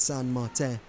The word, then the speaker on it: Saint Martin: Really, I think it's pronounced, pardon my French, Rennie, I know you're a big French speaker, but I believe it's Saint Martin.